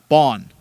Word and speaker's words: Bond: And that's the Nipawin Hawks announced that they had signed 2002 born defenseman Bond, James Bond. Yeah, and it's pronounced exactly like that.